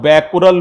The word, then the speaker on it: Becquerel: ठीक है, अगर मान लीजिए 1 डीपीएस को 1 बैकुरल भी कहते हैं। बोलो क्या बोला? 1 डीपीएस को 1 बैकुरल भी कहते हैं।